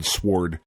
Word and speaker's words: sword: Oh, she's got impossible outfits with impossible physics and a big fucking sword and giant monsters and shit. I don't know. It looks fucking cool. You really do pronounce the W in sword, don't you?